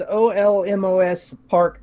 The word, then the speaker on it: Olmos Park: Now, the correct pronunciation of this town is Olmos Park, Texas, right?